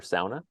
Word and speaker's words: sauna: got a shot at helping SAA be pronounced SAA here in the US I think hey folks